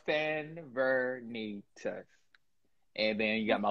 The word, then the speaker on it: Sanvernetas: So, you know, the correct pronunciation is Sanvernetas. So it's like, like Sanvernetas.